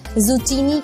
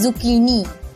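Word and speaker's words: zucchini: तोरी को इंग्लिश में जुकीनी कहते हैं, जुकीनी, लेकिन अक्सर लोग इसकी प्रोनाउंसिएशन मिस्टेक में इसे जुचीनी कहते हैं। करेक्ट प्रोनाउंसिएशन है जुकीनी, जुकीनी।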